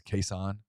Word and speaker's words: Kason: Did you know we were always pronouncing his name correctly? We called him Kason, and that's not his name. It's Kason.